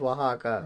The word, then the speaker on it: Oaxaca: the city yes it's the city how's it pronounced um i'm sorry people i'm sorry i'm dummy oaxaca i should have known as oaxaca okay i've met people from oaxaca uh i